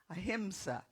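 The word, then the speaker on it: ahimsa: A himsa. Got to say it right.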